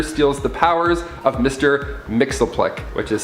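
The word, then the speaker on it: Mxyzptlk: when the joker steals the powers of mr mixel plick which is spelt so differently i had to like rate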